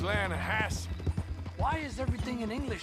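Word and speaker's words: Lannahechee: The other day, I rode down to the Lanahechee River, I caught some beautiful steelhead trout. You mean the Lana Hassee River.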